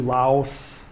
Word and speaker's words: Laos: or it's spelled Vientiane, just like it's spelled Laos. People over here say Lao, and people over here and in Laos say Vientiane.